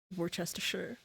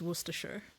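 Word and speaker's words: Worcester: I thought it'd be like pronounced like Worchester sauce or something like that but it's worer.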